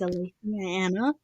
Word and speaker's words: Aletheianna: And here to help me talk about this is Aletheianna. Did I say it right? You did say it right.